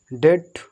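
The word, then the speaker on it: debt: देख लीजिए ऊपर से, यदि टी से पहले बी आ जाए तो बी साइलेंट रहता है, ठीक है, जैसे डेट, ठीक है, और डेटर, डाउट, डाउटफुल।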